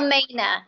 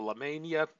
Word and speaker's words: LaMaina: It's Well, LaMaina. It's just like LaMaina. Main Street with the A at the end. LaMaina. Good Uh-huh. way to remember it. Thank you, LaMania.